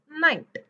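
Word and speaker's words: night: एल य H laugh पण एन आय जी एचटी मध्ये जी एच ला सायलेंटच करायचं जी एच च फ सुद्धा साऊंड घ्यायचं नाहीये आणि जी एच म्हणायचं पण नाही पूर्ण सायलेंट घ्यायचं त्याला डायरेक्टली म्हणायचंच नाहीय म्हणजे एन जीएसटी च काय होतय नाईट नाईट so laugh and नाईट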